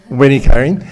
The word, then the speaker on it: Winnie-Karen: Did I pronounce it correctly? Winnie-Karen.